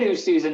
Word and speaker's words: Oosthuizen: He actually said Oosthuizen, not bad. Like that's actually a pretty good pronunciation of his name.